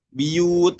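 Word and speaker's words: بيوت: Nah, jadi dibacanya bukan buyut lagi tapi biyut, ya.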